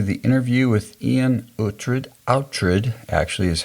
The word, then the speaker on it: Oughtred: Oughtred actually is how Iain said it's pronounced, Oughtred.